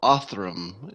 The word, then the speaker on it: Othram: David middleman and David is the CEO of auth room am i pronouncing that correctly yes the first technology company